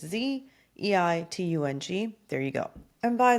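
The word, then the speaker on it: Bild-Zeitung: I don't even know if I'm pronouncing that right, but it's Zeitung.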